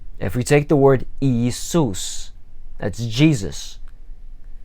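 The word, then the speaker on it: Иисус: If we take the word Iisus, that's Jesus, first two letters are exactly the same. Each one is its own syllable. Iisus.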